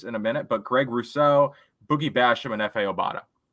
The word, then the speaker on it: Rousseau: I have always pronounced his name, and I think everyone's always pronounced his name, Greg Rousseau. But I heard a commercial that he was on during the broadcast, and also one of the announcers pronounced it as Russo. They put the emphasis on the Ru as opposed to the so.